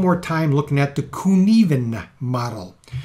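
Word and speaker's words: Cynefin: I'm going to spend a little more time looking at the Kunivan model. It looks like Cinefin, but it's pronounced Kunivan or something similar to that.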